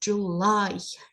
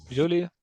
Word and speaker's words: July: okay yeah and yeah pay attention to the pronunciation it is July July Julia July yeah this is Julie and the more kids